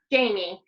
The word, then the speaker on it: Jaime: How do you say your name? It's Jaime. And actually, there's a funny story around my name. It's not a Hispanic influence. It's actually a French influence, and it was from my dad.